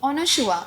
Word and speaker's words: Anasua: तो करण जौहर ने बोला था कि Anushua. I was like, sir, oh my god, how are you taking my name so properly, because that is my pronunciation.